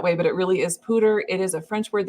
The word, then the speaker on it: Poudre: And I just want to mention Poudre is a French word. It's Poudre. It looks like poudre. Sometimes podcasts say it that way, but it really is Poudre.